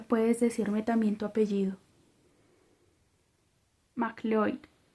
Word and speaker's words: MacLeod: MacLeod. Usé la pronunciación en gaélico que, a oídos de inglés, sonaba parecía MacLeod. MacLeod, me corrigió ella.